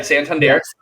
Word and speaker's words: Santander: immediately i was like i need this yeah santander you nailed it great because i i've been